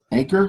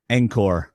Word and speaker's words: Angkor: Anchor or Angkor? Angkor. Come on, so now. You got to pronounce the tribes right.